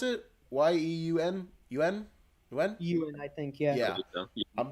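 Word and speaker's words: Steven Yeun: And then finally, Stephen Yuen, I think is how you pronounce it. Yeun.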